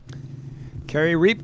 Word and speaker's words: Carrie Reap: I've been saying your wrong your name wrong. Carrie Reap is the way we say it. 2014 Mustang. Carrie Reap going to have some